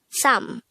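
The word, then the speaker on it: 삼: sam this is just composed of one syllable pronounce it with me sam again sam how do we spell sam in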